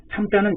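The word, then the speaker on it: 參: 다시 더욱 능히 이 맥으로서 그것을 또 참여하니 참자는 참여할 참자예요. 참여할 참. 그래서 어떤 것에 같이 참여하는 것을 참이라고 합니다. 1, 2, 3 할 때는 3인데 이것이 어디에 참여하다, 관여하다 할 때는 참으로 발음이 된단 말이죠.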